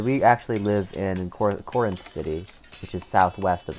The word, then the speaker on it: Corinth: Corinth.